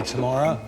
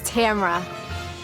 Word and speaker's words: Tamra: Hey, Tamara, you gotta go out the front door. Maybe if I were smarter, then I'd be here longer. And the correct pronunciation of my name is Tamra.